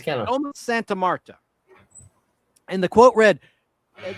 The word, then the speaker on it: Domus Santa Marta: How do you say that, Al? Domus Santa Marta. Domus? That's good enough. It's kind of Domus Santa Marta.